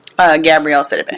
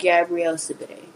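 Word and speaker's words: Gabourey Sidibe: Gabrielle Sidibe. Gabrielle Sidibe.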